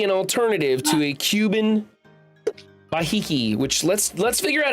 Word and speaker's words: Behike: It's a Cohiba Behike is how you pronounce it.